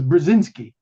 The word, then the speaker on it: Brzezinski: It was Brzezinski is how you pronounce Brzezinski.